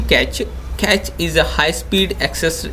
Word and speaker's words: cache: Uh this one pronounced like a physical from US currency. Catch.